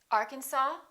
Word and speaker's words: Arkansas: cupboard my kitchen cupboard silent s Arkansas Illinois Island debris all right